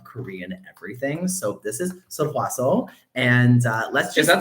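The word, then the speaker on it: Sulwhasoo: So actually it's Seolhwaseol. Seolhwaseol.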